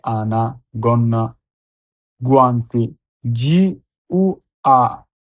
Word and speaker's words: guanti: ও এন A gone, N এ আনা গন্না, guanti, G-U-A, gua, N-T-I, guanti, inglese, I-N-I, G-L-L, S-S, inglese, gru, G-R-U, gru, attention.